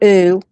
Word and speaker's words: Ou: Last name spelled O U pronounced U.